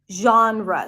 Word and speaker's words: genre: used in English and it has an English iation which I'm going to teach today a sound the A and father and an N Jean Jean the second syllable is quick and short it's an R sound and awah r r JRE genre so unlike what it feels like or seems like this word does not have one syllable genre but two syllables